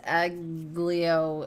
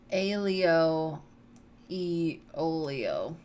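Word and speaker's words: aglio e olio: um so erica says egg leo no no read what she said just pretend the g's aren't there and that's how you pronounce it so alio e olio right why why any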